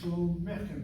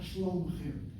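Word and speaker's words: שלומכם: Notice how I'm saying it. Shlomechem, not shlomchem.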